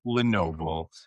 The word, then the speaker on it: LeNoble: So, I pronounced your name correctly, Tom Lenovo, right?